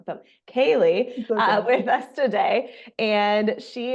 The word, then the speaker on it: Kali: with me Alicia bakam mck today I have Callie am I saying your name right I didn't even K Kaye I'm like oh I didn't even ask because I hate when people say my name wrong so Kaylee with us today and she is a therapist